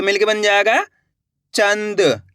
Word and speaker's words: चंद: कैसे पढ़ेंगे? चंद। ऐसे नहीं पढ़ना आपको चनद। अगर आप चनद पढ़ दोगे तो यहाँ पे ना का पूरा उच्चारण हो जाएगा, जबकि अपन को करने के आधा उच्चारण निकालना है। बिंदी दिख जाए आपको तो आधा उच्चारण निकाल देना ना का।